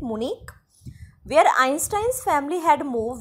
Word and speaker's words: Munich: Again, this H is silent, Munich, where Einstein's family had moved when he was 15 months old.